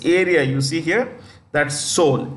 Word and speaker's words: Seoul: you see here that Seoul s-e-o-u-l the capital of South Korea Seoul the E is silent yeah so it's North